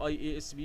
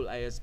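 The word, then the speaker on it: IASB: اي اس بي او اللي بينطقها اذب ما حدش بيقول اي اي اس بي بيقولوا الازب ايه الازب دي ده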